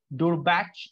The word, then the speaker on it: Durbach: Vineyards from this region are Michelfeld, Durbach, and Zulsfeld. Michelfeld, Durbach, and Zulsfeld. मैं वापस बोल रहा हूँ, ये pronunciation आपको problem होगा तभी मैं आपको ये recording दे रहा हूँ.